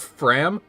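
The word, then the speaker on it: Framme: both these characters names don't just Clan and Fram I see thanks for filling me in Fran Fram Clan Fram got it silent ease oh my God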